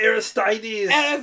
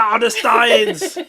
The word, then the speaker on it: Aristides: Okay, you don't know how to say it Articides. either. Articides, okay. Yeah. Oh, then it jumped It's in. Articides. Articides. It's not Aristides.